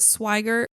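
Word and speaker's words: Swigert: the role of Jack I think you pronounce it swiger but he turned it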